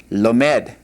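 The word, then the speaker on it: לומד: We add that O, and then followed by a sere, lomed.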